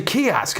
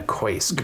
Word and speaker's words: kiosk: They'd be like, oh, that's a kiosk. I'm like, how do they know it's not a koisk?